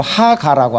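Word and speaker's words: הגה: 여기서 묵상이라는 것을 뭐라 그러냐면은 바로 하가라고 합니다. 이것을 하가라고 읽는데 히브리어로, 근데 이것은 무슨 뜻이냐면 묵상하다라는 것입니다.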